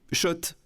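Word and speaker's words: Schott: Oui, Shot. Et pas Scott, ça fait des années qu'on prononce mal la marque.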